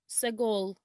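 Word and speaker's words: סגול: refer to the heavens in hebrew purple is pronounced sagul segol in bereshit 9 20 it says then noah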